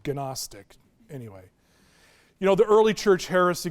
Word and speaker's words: Gnostic: That's spelled with a G, so Gnostic, anyway.